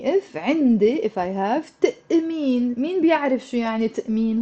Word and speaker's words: تأمين: So it's not تمين. It's there's a تأمين.